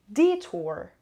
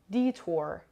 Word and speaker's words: detour: charged along at abadi detour detour detour the stress is on the first syllable means to use a